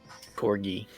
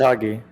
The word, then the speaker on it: Kagi: Corgi. Corgi. Kagi. Kagi. Okay, now I'm confused. Is it Kagi? Kagi. It's Kagi. Okay. You're saying it right? Okay, I was. Not Corgi. Correct.